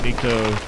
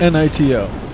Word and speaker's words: Nito: Nito. Okay. Nito. Nito. Okay. Pronounced like Nito, or I don't know. I was putting a K in there.